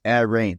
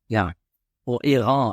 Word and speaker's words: Airain: native English speaker and I read this as Airain because I see the words air and I see the words rain.